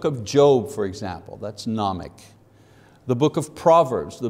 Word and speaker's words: Gnomic: Number one, nomic, don't pronounce the G, nomic, meaning knowledge.